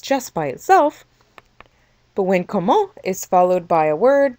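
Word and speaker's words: comment: question we don't say even though there is a t at the end of the word we leave off the t when we pronounce the word and say instead however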